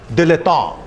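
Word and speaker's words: dilettante: दिलेतों। दिलेतों, अगर मैं इसको ऐसा प्रोनाउंस कर रहा हूं तो ये किस देश से आया है? इट इज a French word, दिलेतों।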